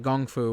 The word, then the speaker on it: kung fu: So much so as several times they call it gung fu, which is apparently how you're supposed to pronounce it.